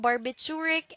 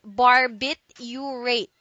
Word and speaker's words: barbiturate: inducing drugs derived from barbiturate acid okay so don't forget this word contains four syllables and it says bar bit you rate barbiturate now the second